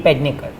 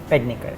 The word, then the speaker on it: Pednekar: Bhumi Pednekar. Pednekar.